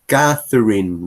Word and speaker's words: Catherine: En español nosotros decimos Catherine, así con T, pero en inglés se pronuncia eh, como el sonido de thank you, con la lengua entre medio de los dientes, y después soplo. Thank you.